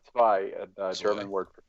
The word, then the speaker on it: Zwei: It's pronounced Zwei. like ZVAI, like Zwei.